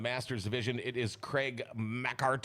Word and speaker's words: MacHart: I think I've called you all of them, but it is pronounced MacHart.